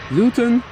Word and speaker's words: Luton: one arriving from London luten luten gluten luten gluten without a g it is triple P day today proper pronunciation pondering day Luton Luton gluten Luton